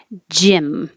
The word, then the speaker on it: gym: joking are you choking gym this is a situation where it's spelled with a Y but it sounds the same as an i Jim like a guy's name and it's a short I gym nine Courier I